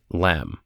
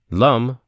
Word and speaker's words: Lam: Lum rhymes with thumb is the seed mantra of the earth aspect which in most chakra visualization practices is set up in the mulahara.